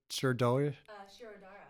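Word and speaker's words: Shirodhara: Shirodara, yeah. Shirodara, thank you. I could never pronounce that one.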